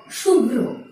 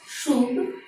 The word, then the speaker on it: শুভ্র: পরে দেখাচ্ছি ভয়ের সাথে রফলা থাকলে, ঠিক তেমনি ভাবে ভয়ের সাথে রফলা থাকলে প্রথমে বয়ের উচ্চারণ আসবে, তারপরে ভয়ের রফলার উচ্চারণটি আসবে। যেমন শুভ্র, শুভ্র, শুভ্র।